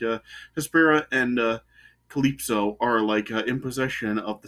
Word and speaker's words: Calypso: named Hespera and Calypso, is that how it's pronounced? Yeah, Calypso.